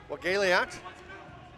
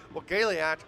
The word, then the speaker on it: Wagaliat: So if you're wondering, but I did talk to him before the game, and I had him pronounce it, and again, so it's Wagaliat, but he said, yeah, I go by Bo.